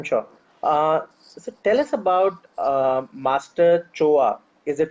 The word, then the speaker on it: Choa: brilliant brilliant I'm sure tell us about Master Choa is it pronounced that way yes yes master sure how